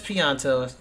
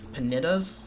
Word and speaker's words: Pianta: That's not how I thought you pronounced that word. I think when I was younger I called them panitas or something weird.